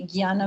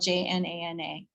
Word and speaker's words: Jnana: So you'll see Nya or Gya, like Jnana Mudra, this right here, Jnana Mudra. It's spelled Jnana, Jnana.